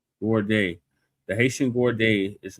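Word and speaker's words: gourde: Z O U R D E Z O U R D G O U R D E Gord. Gorde.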